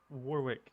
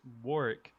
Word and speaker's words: Warwick: It's not Warwick. It's Warick.